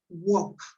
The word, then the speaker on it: walk: Cuando yo combino las letras A, L, K, las letras, se traducen en el sonido OK. O sea, eso se pronuncia walk.